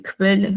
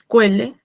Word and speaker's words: Quelle: Eso es, y de la misma manera se pronuncia así, Kvele, o sea, tienes que pronunciar bien la K al principio. No es Quelle ni Kele, es Kvele. ¿Sí?